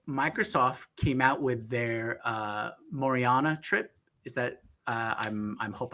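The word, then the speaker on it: Majorana: said, but so Microsoft came out with their Maucere chip. Is that I'm hope I'm pronouncing it right. That's right. Correct. Maucere.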